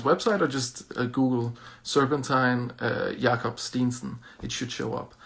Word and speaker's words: Jakob Steensen: Jakob Steensen is his Danish pronunciation.